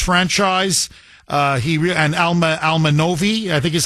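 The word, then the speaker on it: Alma Nove: Uh he and Alma Almanovi I think is how you pronounce it. Nove wicked close. Alman Nove.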